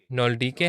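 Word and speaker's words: Nöldeke: میں نازل ہوئی تھیں۔ نولڈیکے یا نولڈیک، مجھے ان کے نام کا صحیح تلفظ یاد نہیں، German word. نولڈیکے ہے، نولڈیکے، یہ جرمن نام ہے۔ میرے لیے جرمن تلفظ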